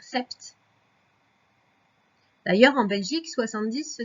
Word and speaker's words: sept: 7, je te rappelle qu'il y a un P qui est muet dans 7. On pourrait le lire sept.